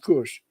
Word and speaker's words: Cush: It's pronounced Cush.